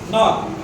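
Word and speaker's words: knock: कनाक बोलेंगे इसको, बताओ KNOC के इसमें जबकि साइलेंट है, क्या बोलेंगे इसको? नॉक, हु इज नॉकिंग, नॉकिंग, यही नॉक है, ठीक है जी। के हम लिखेंगे सही लेकिन आवाज नहीं निकालना, के साइलेंट है और आगे से आवाज आ रही है नॉक।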